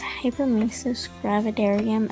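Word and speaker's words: hyperemesis gravidarum: was pregnant with him, I'm not sure the correct way of pronouncing this, so I've just referred to it as HG, but it's hypermesis gravidarium, I believe is the way that it's pronounced.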